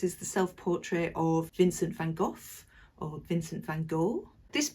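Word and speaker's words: Van Gogh: of it for you the correct way apparently the Dutch way to pronounce that name is Vincent Van Hof but notice on the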